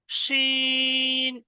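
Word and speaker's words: ش: শিন, এই অক্ষরটা উচ্চারণ হবে জিভের মাঝখান দিয়ে, জিভের পুরো মাঝখান এবং ওই সোটা উপরের তালু। শিন, শিন বলার সময় দেখবেন জিভটা উপরের দিকে একদম এরকম মানে ছড়িয়ে যাবে।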